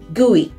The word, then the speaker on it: GUI: microsoft's current and future products number five many guise are powershell front ends pronounced gui a gui is simply a user